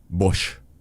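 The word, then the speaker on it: Boix: Se llama Carles Bosh, se escribe Boikes.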